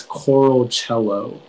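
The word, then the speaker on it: choralcelo: uh your word is coral cello cello may i have all the information yeah so the only pronunciation is coral cello it's a noun and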